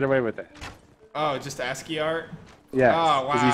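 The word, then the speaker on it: ASCII: penises every single one asky is that the proper way to say that you don't that's how you say that word asky okay no ask what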